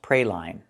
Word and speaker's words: praline: The word is not pronounced praline. This is a kind of candy, and it is pronounced praline. Use the long E like green beans for the second syllable.